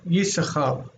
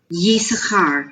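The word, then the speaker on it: יששכר: I had asked the question on the forum Well, the name you read But is you read it as Yisachar. Yisachar. You ignore the second S or the second scene.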